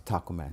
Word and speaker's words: TacoMa: So actually the Taco Man is spelled like Tacoma. So the Tacoma but we capitalize the T and the M so it's pronounced the Taco Man.